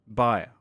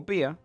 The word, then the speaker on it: Bia: whatever he was holding, the god, Bia, or Bia, whichever you prefer, pronounced differently from Mesogaia to Midgard.